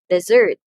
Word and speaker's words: dessert: syllable what about you dessert desserts so the second syllable receives the emphasis or the stress okay so this pronunciation